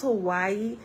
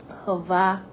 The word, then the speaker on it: Hawaii: It's not pronounced Hawaii, it's pronounced Hawaii, right?